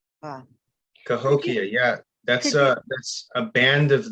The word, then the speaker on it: Cahokia: Are you familiar with the tribe that might sound like Cahokia? Yeah, Cahokia. Ah. Cahokia, yeah.